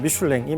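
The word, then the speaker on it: Michelin: 미슐랭 타이어 회사를 설립합니다 영어로는 미인이라고 발음을 하는데 프랑스 발음을 따르자면 미슐랭이 맞고요 그래서 미슐랭 타이어입니다 근데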